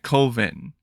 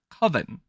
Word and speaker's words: coven: like it's actually pronounced coven it's like ah that no man that's not right that that sounds too much like oven man you know that kind